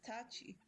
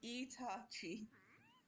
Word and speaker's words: Itachi: Wait, who is Tachi? No, it's Itachi.